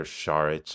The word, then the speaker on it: Šarić: I just felt like Dario SAR was or shich I don't know I just heard a thing about how you should pronounce it today like Char um he was signed